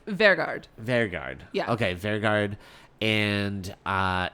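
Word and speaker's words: Vegard: Vergard.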